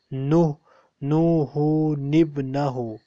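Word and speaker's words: نوحٌ ابنه: So here we have a small noon present between the word nuhu and ibnuhu. So ni noon kasra ni will be joined with the next word. It will become nuhu nibnahu.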